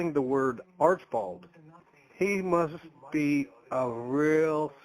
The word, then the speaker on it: Archibald: Archibald's definitely one of them, because if you say Archibald, it's too much. It has to just be Archibald. It has to be a quick middle syllable.